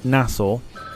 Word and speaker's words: Nassau: If you're just joining, oh, Southwest Avgeek, he's doing Heathrow to Nassau tomorrow, or Nassau as it's pronounced.